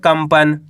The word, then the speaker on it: कंपन: कंपन क्या पढ़ेंगे कंपन यहां पे आधा म का उच्चारण निकालेंगे कंपन अन च ल तो